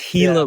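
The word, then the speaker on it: Gila: I looked the pronunciation I think it's hila River even though it's with the G hila River I just I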